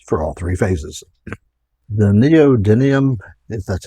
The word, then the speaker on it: neodymium: you the moves for all three phases the neodymium that's how you pronounce it magnets come in various shapes and